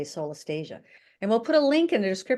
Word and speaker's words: solastalgia: It's pronounced differently by different people. I like to say solastalgia.